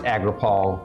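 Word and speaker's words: Agropal: l p a l pronounced agral but if you set them out separately Agro and pal don't go aggro on me pal um so that is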